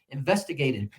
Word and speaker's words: investigated: And so it's 5 syllables. And on which one is the primary stress? It's on the second one. And on which syllable is the secondary stress? Investigated will be on the penultima, which means the next to the last one.